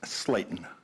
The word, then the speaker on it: Slayton: Pronounced Slayton, Slayton. long A.